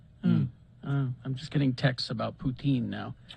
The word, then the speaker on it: poutine: in uh in eastern in eastern canada it's pronounced putin i'm just getting texts about poutine now says now i